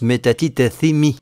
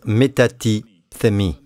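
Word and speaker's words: μετατίθημι: ça se prononce métatitethemi. Ça ne change pas grand-chose. Mais en grec, ça se prononce métatithemi.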